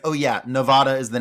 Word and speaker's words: Nevada: Well, apparently they pronounce it weird, too. It's Nevada. It's Nevada.